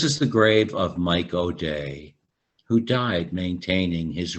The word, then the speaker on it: O'Dea: thousand followers and quotations and o'day spelled oh apostrophe ea like my name is spelled i have an uncle